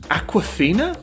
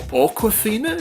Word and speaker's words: Awkwafina: she's really good there's another one she's called Awkwafina or Awkwafina is how it's spelt A W K Wafina I'll write it